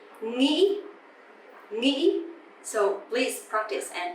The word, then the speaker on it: nghĩ: If you hear people from the south, the southern accent, they would say nghĩ, a bit softer, right? Nghĩ. But the northern accent, nghĩ, nghĩ.